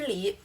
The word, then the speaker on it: 梨: 中文里的分离 the fruit "pear," its pronunciation is the same as the Chinese word "separation," fēn lí de nà ge lí 分离的那个离 that "li" in separation.